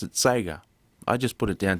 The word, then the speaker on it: Sega: as you're adopting as long as you're you're pronouncing the the e sound it's okay the Japanese they say Sega Sega it's still making the e sound still